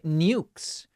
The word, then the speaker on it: nukes: Pronounced properly, it should rhyme with dukes, not rebukes.